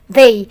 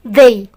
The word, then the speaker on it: they: bahasa Inggris kita bacanya they perhatikan ketika kamu melihat huruf t sama h dalam bahasa Inggris itu seperti suara Dal tapi lidah kamu agak dikit sedikit so you can say they Oke nanti kalau kamu